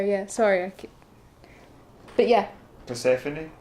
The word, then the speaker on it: Persephone: sorry okay but yeah Persephone Persephone was her daughter that's how you pronounce her name Persephone mm-hmm and Demeter was